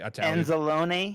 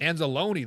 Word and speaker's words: Anzalone: aono or something that you you are probably anzalone anzalone there you go how big of loss do